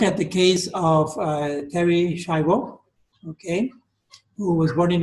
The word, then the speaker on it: Schiavo: actually an Italian word, and it's really pronounced Schiavo. It's pronounced Schiavo, right? Because the H here is mute. It makes the C a hard sound, like a K. So this is pronounced Schiavo in Italian, and Schiavo means slave.